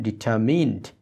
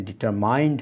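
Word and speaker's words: determine: bring ডাউনটাইট civil তাহলে হিজ ডিটারমিন এটার উচ্চারণটা খেয়াল করুন ডিটারমিন এখানে ডিটারমাইন হবে না টু ব্রিং ডাউন অ্যাপার্টাইট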